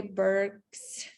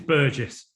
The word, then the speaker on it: Burgess: All right, so I will give the floor to our speaker, Burges, if I'm pronouncing your surname correctly. It's Burgess. Burgess.